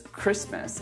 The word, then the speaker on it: Christmas: There's also the words Christmas and match, which I often see my students trying to pronounce the T.